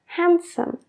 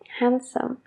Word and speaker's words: handsome: this Chicken sandwich bien handsome guapo handsome That guy is handsome That guy is handsome cuando estamos hablando lento se pronuncia la d Pero eso cambio cuando